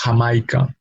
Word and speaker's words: Jamaica: English H, but it's definitely different from the English J. No, that we will see in jam or in Jamaica. No, in Spanish is Jamaica.